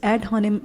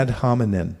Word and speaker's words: ad hominem: So ad hominem, I got it from the Wikipedia. Spell it.